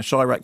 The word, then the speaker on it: Chi-Raq: it's been around for a little while now shyak pronounced as in Tyra a combination of sh Chicago